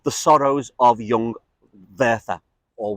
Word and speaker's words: Werther: Goethe wrote a book called The Sorrows of Young Werther, or Werther. Werther as in Werther's Originals with a W, but the Germans pronounce it with a V.